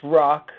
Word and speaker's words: Rach: Folly uh Jonathan what ises how do you pronounce your last name exactly it's it's rock rock okay for some reason I was wanting